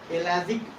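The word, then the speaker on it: pelagic: टेरेजेनियस deposit, first टेरेजेनियस deposit डालना, और दूसरा एलाजिक deposit. टेरेजेनियस deposit and एलाजिक, पी इसमें साइलेंट आता है, बट अगर कोई बोल भी दे तो कोई फर्क नहीं पड़ता है।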